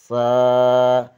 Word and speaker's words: سا: ادا کریں، اردو تلفظ سے پرہیز کریں، یعنی بے، تے، سے، جیم، اے، خے، توئیں، زوئیں وغیرہ ہرگز نہ پڑھیں، بلکہ با، تا، سا، حا، خا، تو، زو پڑھیں۔